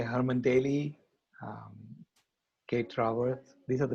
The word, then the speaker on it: Daly: It's pronounced Daly, right? Yeah. And we're just learning the players in the economy.